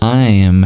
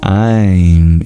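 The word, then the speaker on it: Aiṃ: That means it's not your typical M sound.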